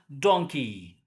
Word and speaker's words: donkey: The letters EY produces, but not very much in some words, like key and donkey. But if you say donkey, you make it short, then it is mispronounced.